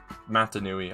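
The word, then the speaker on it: Mata Nui: Matanui.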